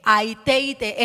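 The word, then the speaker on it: αἰτεῖτε: Cuando tú lees ese verbo pedid en Mateo capítulo 7, es el verbo que se escribe en griego, aite. Aiteite es la palabra correcta y significa pedir con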